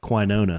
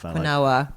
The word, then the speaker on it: quinoa: It's like that other stuff, that quinona stuff. Quinoa. Yeah. It's actually No, pronounced it's quinoa.